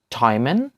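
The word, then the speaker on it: Traum: দ্বিতীয় উদাহরণটি হচ্ছে টয়ম্যান, টয়ম্যান।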